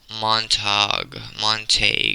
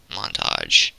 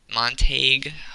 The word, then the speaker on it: Montague: Moving on up the card, Marabueno Silva versus Michelle Montague. It's not pronounced montage. We're not playing Call of Duty today.